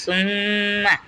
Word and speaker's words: ثم: সুম্মা, যেমন সুম্মা, সা কিন্তু মিমকে গিয়ে ধরবে, আবার একবার এরকম করে একবার উচ্চারণ হবে সুম। আবার মিম কিন্তু নিজ হরফের সাথে একবার উচ্চারিত হবে সুম্মা। তার মানে এটা হচ্ছে সুম্মা। যদি তাসদিদওয়ালা হরফ থাকে তাহলে এইভাবে উচ্চারণ করতে হবে সুম্মা।